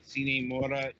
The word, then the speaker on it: Sine Mora: We got 3 games up this week, and first among them is Sine Mora EX. We finally figured out how to pronounce this thing in between shows. Yeah, it's the Latin way.